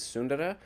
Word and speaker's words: Sundara: Technically speaking, the Indian pronunciation is Sundara. But I gave up on that a long time ago. When you have all the Americans with their pronunciation, it's a lost cause to attempt to have everyone pronounce it.